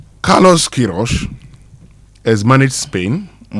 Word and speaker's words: Queiroz: Carlos Kirro or Kirros, whichever way you want to pronounce that.